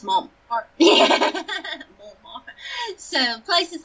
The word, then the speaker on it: Montmartre: like on the left bank, and is it pronounced Montmartre? Montmartre.